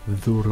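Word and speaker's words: δώρο: veut dire les euh Zoro. Donc ça c'est même Z que en anglais avec langue entre les dents comme this that zoro comme le perso Zoro qui veut dire cadeau.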